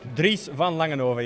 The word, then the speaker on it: Dries van Langenhove: Okay, so I'm here with Dries van Langenhove. Is that pronouncing it right? Dries van Langenhove, yes.